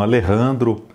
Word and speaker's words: Alejandro: um escritor brasileiro Então deveria pronunciar Alejandro não sei eu pesquisei no YouTube e vi que eles pronunciam Alejandro essa pronúncia espanhola mesmo estamos tando aqui no Brasil então eu vou eu vou manter essa pronúncia eu fico pensando também